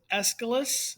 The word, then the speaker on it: Aeschylus: His name is Aeschylus. The A is silent.